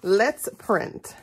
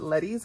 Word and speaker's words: Let's Print: I have to say it like that because it's so funny to hear people who haven't heard me actually say the name of her shop. Everyone wants to call it Letty's, but it's Let's.